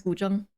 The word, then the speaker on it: guzheng: Yeah, that's how you pronounce guzheng. Guzheng with the zh is a zh sound. Same like it as in my name.